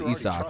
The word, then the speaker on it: Isaac: Yeah, it's always like they knew it wasn't Isaac, but they didn't know it was Isak.